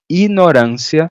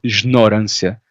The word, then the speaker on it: ignorância: Ignorância com, não é jignorância. Aqui temos um ignorância. Ignorância, né? Pronunciado assim.